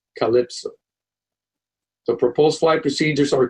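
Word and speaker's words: CLPSO: five letters for example the cl pso waypoint will be pronounced calypso the proposed flight procedures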